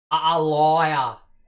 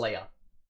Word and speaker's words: Aaliyah: How is it supposed to be pronounced, Ben? A liar. And how do you pronounce it? No, that's how I pronounce it. How's it supposed to be pronounced? Aaliyah. And how do you actually pronounce it? A liar. A liar.